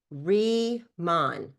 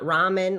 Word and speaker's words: Riman: Remon, not ramen, like ramen noodles. Re re ramen. People say it wrong. Reman, like rebirth, rethink, re-imagine, redefine. You see how it all makes sense? You see the re right there?